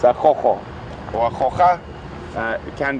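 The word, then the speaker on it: Gogo: It's quite an interesting spelling, because I think if you had to say it how you would think it was said, it would be a go-go. It is spelled G-O-G-O, and obviously with a lot of us having a bit of Afrikaans influence and whatnot, that sound with the G is from the Afrikaans language, so it's a Jojo or a Joja.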